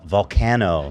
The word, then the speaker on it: Vulcano: You pronounced my name right. Yeah. Well, I'm a I'm a fan, you know. Yes. No, but I mean, but like I would say truly truly 95% of people don't pronounce it right. Even my friends of like my life, what do they say? They say volcano, which is actually I've